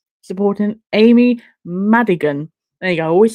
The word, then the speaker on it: Amy Madigan: Weapons has Amy Magnus. I can't pronounce her name. I'm so sorry. What's her name supporting Amy Madigan?